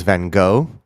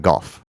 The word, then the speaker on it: Van Gogh: more properly pronounced than golf than golf okay so vince sounds ridiculous but it's like the gh is like cough at the end i think it's probably